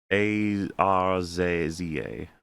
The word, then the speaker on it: Arza: And the name is Arza Chats. So I, AZA? A-R-Z-A. Arza.